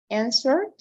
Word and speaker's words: answered: This is like a D, right? Answer, answered, answered, right?